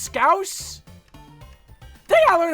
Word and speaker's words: Scouse: Like mouse. Scouse? It's pronounced Scouse?